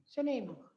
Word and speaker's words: Snuneymuxw: I think a really important question for a lot of people is how to pronounce Snuneymuxw properly. There are so many versions of Snuneymuxw. Snuneymuxw.